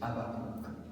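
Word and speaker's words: Habacuc: bon c'est vrai que les gens disent avac pour être fidèle à la langue française mais la prononciation juste c'est abakou oui parce que le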